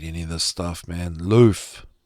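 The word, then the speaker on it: Lugh: of this stuff man lof l u g h who was skilled in all the arts one day lof I think that's how you say it assured victory to the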